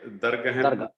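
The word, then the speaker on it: ਦਰਗਹ: मैं पहले एक पुछ लवां जी, इनू आपां हुण दरगह प्रोनाउंस करना कि दरगाह? दरगाह, ठीक है।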